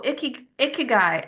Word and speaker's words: ikigai: Oh, ikigai.